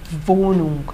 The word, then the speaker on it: Wohnung: Então, gente, pelo amor de Deus, nada de Wohnung. A pronúncia é Wohnung, no primeiro O.